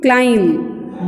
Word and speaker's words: climb: Okay, let's keep to be in silent and the word will be what, thumb, climb. Don't call it to be, don't make pronounce of b, climb.